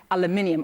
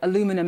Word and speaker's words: aluminium: to the steel and aluminium or aluminum as you Americans say.